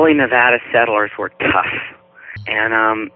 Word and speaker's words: Nevada: And I keep forgetting I because I'm from Virginia, I call it Nevada, but you're supposed to say Nevada. It's a flat A.